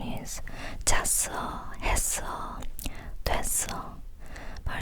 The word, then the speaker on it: 잤어: It's written 잤어, but when you actually speak, it's pronounced as 잤어, 잤어.